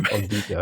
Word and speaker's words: Giger: famous Swiss pervert H.R. Geiger, or Giger, and depending on how you want to pronounce it.